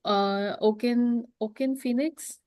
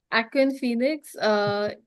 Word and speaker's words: Joaquin Phoenix: Like Oaken Phoenix. Joy, how do you say? Aquin Phoenix. Joaquin Phoenix is a great actor.